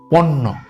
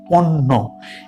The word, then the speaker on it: পণ্য: পণ্য। প ন জফলা। পণ্য। এখানেও কিন্তু সেইম উচ্চারণ। অর্থাৎ ন এর সাথে যখন জ ফলা হলো তখন ন টা মনে হয় যে দুবার উচ্চারিত হলো।